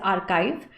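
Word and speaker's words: archives: आर्काइव्स भी बोलते हैं इसका प्रोनंसिएशन दो है British English and American English some people also say like pronounce it एज आर्काइव और आर् चव्स ठीक है इंडिया में मोस्टली हम लोग आर् चव्स बोलते हैं other wise आर्काइव is also the correct pronunciation ये हिस्टोरिकल डॉक्यूमेंट का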